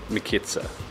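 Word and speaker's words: мекица: The lady's told us how to pronounce it. It's more Mekitsa, we think anyway.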